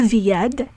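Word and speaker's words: וְיָד: number of cases when the conjunctive vav is pronounced as V when it is attached to a word beginning with a y sound. Now let's practice reading. Zroa v'yad, zroa v'yad, choreh v'yeled, choreh v'yeled.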